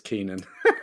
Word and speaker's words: Keenan: So it's not Kieran, then it's Keenan.